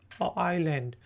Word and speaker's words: island: इसमें स्पेलिंग देख लें, ISLAND है, आइलैंड, लेकिन एस जो है वो साइलेंट है, इसलिए हम किसको कहते हैं आइलैंड, ठीक है।